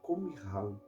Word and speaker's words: Qumran: A pronúncia certa é Qumran.